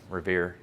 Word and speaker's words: Revere: And Revere, because his name rhymes with career and steer and here, is the one that we remember.